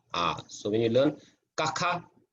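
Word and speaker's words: ཀ: It's very soft. It's not ga. It's not ga. Okay, it's ka.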